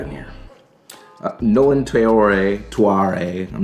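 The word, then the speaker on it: Traoré: Uh, Nolan Trayor, Tuare, I'm not sure how you pronounce his last name. Trayore Trrowor, but he's one of the many guards drafted by Brooklyn.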